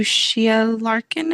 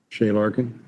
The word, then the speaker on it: Shea Larkin: Yes, to Shia Larkin, I think is how you pronounce it. I'm Shea sorry. Larkin. Shea Larkin.